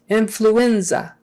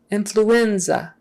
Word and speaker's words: influenza: teeth for l flu influenza influenza stress on the in influenza second to last syllable fracture fracture make sure